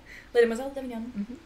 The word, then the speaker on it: Les Demoiselles d'Avignon: I wrote about for my class was about Les Demoiselles d'Avignon. I don't know if I'm pronouncing it right. Pretty good. Oh, thank Les you. Demoiselles d'Avignon. Yeah, Les Demoiselles d'Avignon.